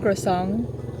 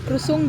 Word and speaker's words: croissant: Pati krosong di daw kabalo mo pronounce. Croissant.